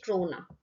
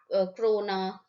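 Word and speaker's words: krona: की करेंसी है Swedish क्रोना। ठीक है, don't get confuse in this spelling, you know, क्रोना, क्रोन, ठीक है, करोना मत कर देना, बस कोरोना।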